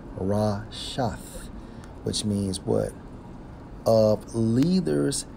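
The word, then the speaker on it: רֶשֶׁת: Okay, now, when we focus on net, okay, according to the Hebrew, it's Strong's H7568, pronounced as Rashath, which means what?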